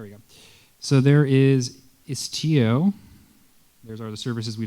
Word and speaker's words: Istio: going to deploy the namespace istio istio Accent on the I okay all right so